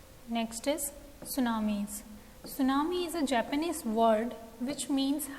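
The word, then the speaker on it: tsunami: होता है herbal shampoo सुनामी pronoun test सूनामी में वैसे तो स्पेलिंग के हिसाब से टीम फर्स्ट लेटर है बट एस्ट्रो ना उन्हें इस सुनामी सुनामी आज टर्न ओन एक्सपेक्टेड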